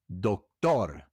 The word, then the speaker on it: doctor: For example, doctor becomes doctor. Doctor, actor, actor, actor, factor, factor, factor. Sector sector sector director director director. These words have the accent on the last syllable because r is a